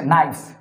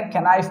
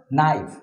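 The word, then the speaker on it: knife: কে এবং এন থাকে, কে এবং এন থাকলে কে এর উচ্চারণটা হয় না, যেমন কে এন আই এফ ই, এটা হচ্ছে নাইফ মানে হচ্ছে ছুরি। এখানে কেনাইফ বলা যায় না, এটাকে বলতে হয় নাইফ মানে ছুরি।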